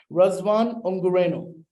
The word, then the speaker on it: Razvan Ungureanu: Razvan Ungureanu, did I pronounce that right? Yes, more or less, yes. Okay, let me give it a try. Razvan Ungureanu.